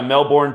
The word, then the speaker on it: Melbourne: 38 just real quick Mel Bourne I was also told by somebody from there that you don't pronounce the R you just say Melbourne they say they call it Melbourne over there so alright